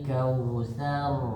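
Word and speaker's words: الكوثر: sar di bawah inirrahmanirrahim inal kautar bacanya kal kautsar innaal kautar enggak jangan-jangan terlalu Debal dulu sa jangan dimonyongin dulu kal kautsar jangan terlalu monyongar biasa ah begitu aja oke sekali lagi coba suaranya yang gede.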